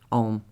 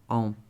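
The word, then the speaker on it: Ogham: But one of the things that I've been thinking about lately is the language of Om, which is spelt O-G-H-A-M, but pronounced Om. Some people say Ogam, but Om.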